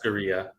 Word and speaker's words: churrascaria: Chuscaria, or however you pronounce it. Churrascaria.